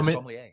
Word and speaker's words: sommelier: I know again nothing about the whole process of becoming a formal. Am I pronouncing it right? Yeah, sommelier.